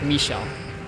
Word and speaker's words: Michel: It's not Michel, it's Michel. You put like a little bit of a pronunciation on the me.